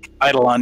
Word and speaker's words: Eidolon: Eidolon, yeah.